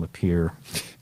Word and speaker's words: Lapierre: whatever, but I fictitiously named the bus driver Kevin Lapierre because it rhymes with deer.